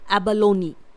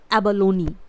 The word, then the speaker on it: abalone: और कंसीपी को इंग्लिश में बोला जाता है एबलोनी। यहाँ पर इसकी स्पेलिंग होती है ABALONE। इट इज़ एबलोनी।